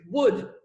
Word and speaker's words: would: The O is silent and the L is silent. It means that you don't pronounce them. So forget the L. Okay, it's not there. It's would.